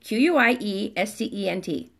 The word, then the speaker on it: quiescent: sky or you're just being your faith personified quiescent exactly qu i e SC ENT spelled it perfectly but it's pronounced quiescent all right so find that quiet